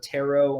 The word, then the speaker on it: Tarrot: And Tarot is spelled Tarrot. I say that because I know everyone will think it's Taro, who are just listening to the podcast and not watching this on YouTube.